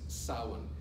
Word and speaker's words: Samhain: But it's pronounced Samhain.